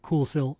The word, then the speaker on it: Kuxiu: It's pronounced Coolsil, I promise, because I asked the brand and they sent me the phonetic spelling, but it's spelled Kuxiu, which doesn't look like Coolsil at all. Yeah.